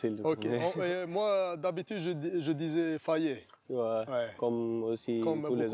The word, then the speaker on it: Faye: Idag har vi med oss Faye som vi ska intervjua.